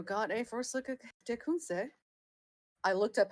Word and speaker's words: Tecumseh: Can you say how that's Suzerain pronounced again, real quick? Tecumseh.